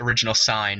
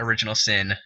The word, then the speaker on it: Original Sine: to inform you that it's pronounced original sign and not original sin and that you need